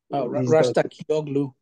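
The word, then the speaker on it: Razgatlıoğlu: And Rogu, whatever his name is, I have trouble pronouncing. I mean, Rastakioglu.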